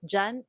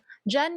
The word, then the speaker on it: dyan: In the chorus, we get both dyan and doon. Dyan means there, near the hearer, but far from the speaker. It's spelled like diyan, but it's very commonly shortened to dyan.